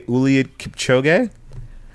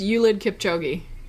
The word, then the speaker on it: Kipchoge: I always say Eliud Kipchoge. Is that the proper way to say it, Tiff? I think it's Eliud Kipchoge. Kipchoge? Okay. Kipchoge. I call him Kipchoge.